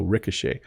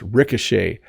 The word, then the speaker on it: Ricochet: and then the CH is making a sh sound so Ricochet if you watch old westerns when they're having a gunfight often you will hear bullets ricochet off the buildings around